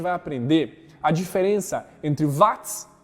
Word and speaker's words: Watt: Na verdade se pronuncia Watt, né?